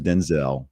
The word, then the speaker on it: Denzel: Denzel Washington clarified in an interview that his first name is pronounced Denzel, not Denzel.